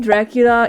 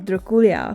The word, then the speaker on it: Drăculea: The name Dracula is a mispronunciation of the name Dracula, meaning Dracul's son.